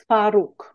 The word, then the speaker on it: Swaróg: Swaróg. Okay. This all with the this is an oo sound.